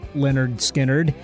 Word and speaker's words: Lynyrd Skynyrd: 1968 the band released its first album called pronounced Leonard skinnard in 1973 by then they had settled on